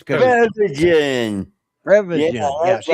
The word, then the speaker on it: Prevagen: I said, Previsit. I say it. Art. Prevagen. Yeah, Prevagen. say it right, Art. It's Prevagen.